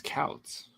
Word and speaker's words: Couts: Scouts minus, so it's not Coots, it's Couts.